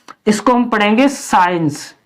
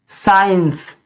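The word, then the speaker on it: science: में साइलेंट सी यानी एस के तुरंत बाद अगर सी है तो ऐसे शब्दों में हम सी का उच्चारण नहीं करते साइंस साइंस इसमें भी एस के बाद तुरंत से है तो साइलेंट रहेगी इसको हम पढ़ेंगे सी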